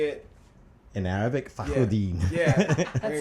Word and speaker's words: Fakhruddin: Fakhruddin. Fa as in Fa Mulan, Crew as in Two Live Crew, and Dean as in Mayor Carl Dean. So Fakhruddin.